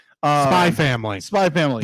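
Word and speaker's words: SPY×FAMILY: called uh spy family spy family the x is silent oh okay it is there for stylistic reasons alone okay gotcha uh we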